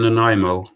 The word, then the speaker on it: Nanaimo: was in um in a training camp in nanaimo is is that how you pronounce it no no no that's perfect pronunciation